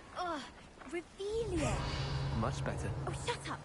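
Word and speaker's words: Revelio: Rebellious. You're saying it wrong. Ugh, Revelia.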